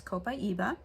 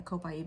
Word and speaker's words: copaiba: south america so um different people pronounce it kind of off but a copaiba i'm pretty sure is the actual name that you would want to call it and again i said